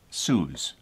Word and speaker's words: Hsu: from Hsu ' yes so I would pronounce that suze I don't know these